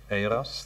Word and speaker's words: Euros: My name is Eros, that's spelled Euros, as in the money, with an S at the end.